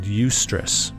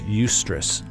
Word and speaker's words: eustress: And really what this boils down for me is this idea that there's a certain amount of stress called eustress, and it's spelled E-U-S-T-R-E-S-S, eustress.